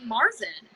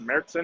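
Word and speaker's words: Märzen: And I was surprised at how many people say Marzen. But I mean, that's what it looks like. I get it. Yeah. I'll teach people about it if they order that, and I'll say, oh, it's pronounced Mertzen or something.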